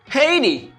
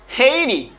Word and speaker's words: Haiti: Haiti. Haiti. Une dernière fois. Haiti. M'gen H, m'gen H. Haiti. Haiti. Attention. Moi gen T dans bitan deux voyelles.